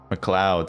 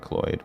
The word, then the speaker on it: Mloud: Mloud. Sorry, not Mlod. Mloud. Mloud.